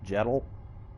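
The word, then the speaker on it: Jetle: How How is your name pronounced? Jettle. J E T L E or J3 T-L3, right? Jettle.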